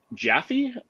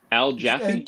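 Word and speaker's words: Jaffee: kind of neat um how do you say his name is it jaffy Al jaffy Al jaffy jaffy jaffy okay so Al jaffy cover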